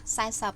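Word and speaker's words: សែសិប: Yeah, no, it's B, but when I hear you pronounce, it sounds like SAP.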